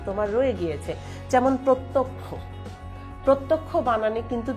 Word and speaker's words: প্রত্যক্ষ: রয়ে গিয়েছে যেমন প্রত্যক্ষ প্রত্যক্ষ বানানে কিন্তু তুমি যখন শেষে ক্ষীয় ধ্বনিটা ব্যবহার করছো তখন কিন্তু তুমি খেয়াল করবে যে প্রত্যক্ষ খিয় ধ্বনিটার উচ্চারণ কিন্তু ক এবং প্লাস খ এর মতো আসছে তার মানে দুইটা নিয়ম